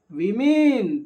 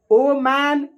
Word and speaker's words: women: अच्छा, ध्यान दीजिएगा कि इसको प्रोनाउंस क्या करेंगे, ठीक है, वी मीन क्या पढ़ेंगे, वी मीन। इसको क्या पढ़ेंगे, एक मिनट, इसको क्या पढ़ेंगे, इसको पढ़ेंगे वुमन। ओ मैन, ओ मेन नहीं पढ़ेंगे, गलत प्रोनाउंसिएशन है, वीमेन या वुमन, वेमेन या वुमन पढ़ेंगे।